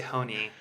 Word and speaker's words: Hoehne: your last name correctly well I've been told that I say it incorrectly by Germans it's a German name I say Honi and they say that